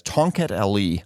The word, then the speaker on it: Tongkat Ali: him don't trust me it's actually spelled almost just like it sounds t o n g k a t